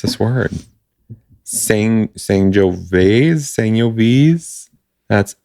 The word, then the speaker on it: Sangiovese: I can't pronounce this word. Sangiovese. That's Sangiovese.